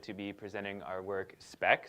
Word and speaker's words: SpEQ: be presenting our work spec so that's how you say it you say spec um and yes so